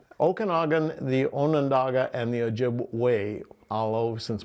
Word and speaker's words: Ojibwe: Okanagan, the Onondaga, and the Ojibwe, although since most people pronounce the vessel as Ojibwa, we say Ojibwe are the people. Ojibwa is the vessel.